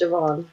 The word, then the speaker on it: Siobhan: It's pronounced, James, it's pronounced Siobhan.